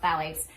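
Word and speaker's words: phthalates: It's spelled with a ph, but it's pronounced phalates.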